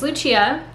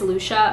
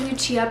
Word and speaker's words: Lucia: People either think it's Lucia or Lucia. And I really like the Lucia pronunciation. It's the Italian pronunciation.